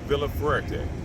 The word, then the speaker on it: Villafuerte: a little bit ago, and I'm interviewing Villafuerte. Did I pronounce that right?